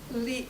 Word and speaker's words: Levi: Levy Chevy. Chevy. M rhymes with Chevy. Levy.